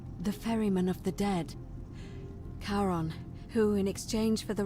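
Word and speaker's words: Charon: c h a r o n as in karon the Fairman of the Dead karon who in exchange for the right coin helps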